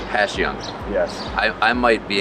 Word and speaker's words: Passyunk: live here yes but the correct way to say it is if it was an sh so it's a passion yeah uh letting lenin